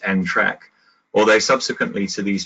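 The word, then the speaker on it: NTRK: should be a pronounced end track or they subsequently to these trials the field seems to have agreed that they're actually pronounced track to rhyme with railway track so despite their the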